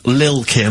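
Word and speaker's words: Lil' Kim: I'm pronouncing that correctly, Lil Kim. Oh, no T's involved.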